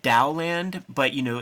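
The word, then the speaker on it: Taoland: And then there's like another series called Dowland, but you know, it's spelled like T-A-O, but it's Dow, T-A-O-L-A-N-D, where it's like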